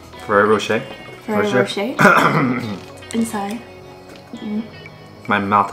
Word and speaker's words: Ferrero Rocher: The Ferrero Rocher. Ferrero Rocher? Ferrero Rocher.